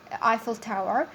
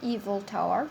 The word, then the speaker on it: Eiffel Tower: is Eiffel Tower not evil tower because the majority of the students I mean when you do your presentation you pronounce it evil tower it is Eiffel Tower so she hoped to